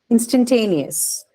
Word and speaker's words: instantaneous: Then the last one here, instantaneous. Instantaneous. Aspirated. Aspirated, yes. Because see, the syllable that is stressed has ter as the first sound. So obviously, there's an aspirate, instantaneous. Okay.